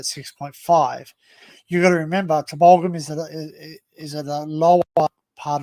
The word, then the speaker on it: Tumbulgum: It's pronounced Tumbulgum, but some people say it's Tumblegum. It's Tumbulgum.